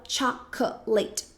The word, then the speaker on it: chocolate: que muita gente acaba colocando mais sílabas do que deveria, porque a gente fala chocolate. Muita gente fala assim, né? Chocolate. Mas na verdade chocolate pode ser muito mais simples, né? Porque são duas sílabas. apenas, não, três. Então fica chocolate, chocolate, chocolate, chocolate e não chocolate.